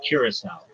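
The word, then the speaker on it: Curaçao: It's Curacao.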